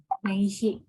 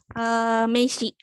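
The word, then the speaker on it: 名刺: Dibacanya apa? Meiji. Oke, benar. Betul ya. Ini dibacanya, bentar ya. Meishi.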